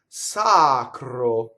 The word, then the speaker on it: sacro: Sacro. Okay, so we already had, we know the R is rolled, and we know this O is closed.